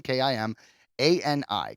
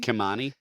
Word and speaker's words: Kimani: So, Meredith Konami, uh, Kimi, sorry, I I always have trouble pronouncing the last name, but it's Kim. K I M A N I. Kani. Kanani. Kimani.